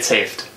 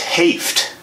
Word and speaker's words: Hoeft: No, it's Hoeft. It's Hoeft. We've known each other for so long. Fuck. That's all good. It's German and it's O-E, so it looks like ho.